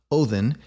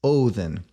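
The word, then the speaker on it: Óðinn: when you say it so for example this is not ovin it's othen and this is not woden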